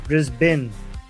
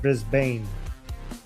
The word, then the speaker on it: Brisbane: It's Brisbane, not Brisbane, then.